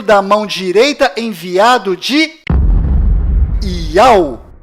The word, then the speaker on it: Yauh: enviado do Criador, pois o nome do Criador é Iau, e a última letra do seu nome tem som de H mudo, do qual não altera a pronúncia deste nome.